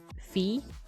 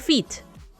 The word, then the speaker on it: Phi: But okay, so this is Phi. Not feet. It's Phi. Finally, we got Alpha, Beta, and Omega.